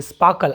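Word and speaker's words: sparkle: And they और वे जो जवाहरात थे वे स्पार्कल्ड, स्पार्कल देखिए, स्पार्कल आर साइलेंट होगा।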